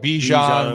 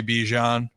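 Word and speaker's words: Bijan: Well, it's also like Bejan was supposed to be Bjan, but then he's like, I like when people call me Bjan.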